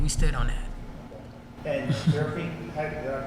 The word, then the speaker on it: Seraphine: And Seraphine, did I pronounce it correctly?